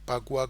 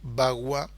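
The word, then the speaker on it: 八卦: Lo podemos ver como Pakua con P, o Bagua, que sería como se pronuncia. Pa es Ba 8, Qua trigramas, y su distribución en el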